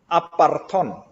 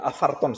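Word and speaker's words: ἄφθαρτον: Nah, ini, aparton, ya afarton sebenarnya bacanya.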